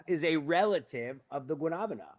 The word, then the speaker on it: guanabana: So pawpaw is a relative of the guanabana.